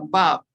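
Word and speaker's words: וָו: Así que la letra 6 es la Bab. La Bab. La Bab. Se translitera con una W y se pronuncia como una B corta.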